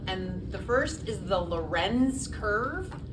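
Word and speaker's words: Lorenz: be tested on and the first is the Loren's curve l o r n z and the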